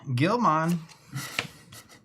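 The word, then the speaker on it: Guilmon: Let's play Gilman. Zero cost. Vince Gilman. You spell that one.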